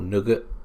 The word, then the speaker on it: Nougat: That's Nugget or Nougat, depending on how you want to pronounce it, I suppose.